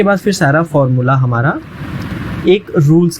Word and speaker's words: et: यूज़ करना होता है ET को प्रोनाउंस करते हैं ए, और ET का मीनिंग, ए का मीनिंग होता है एंड, जैसे इंग्लिश में एंड होता है और।